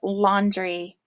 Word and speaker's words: laundry: it into its syllables my first syllable says lon and my second syllable says three and my word is laundry I have been doing